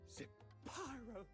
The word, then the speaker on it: Zapyro: You see only the fleeting comfort of a warm drink, but Zapyro's flame, it's Zapyro. 3 syllables of pure...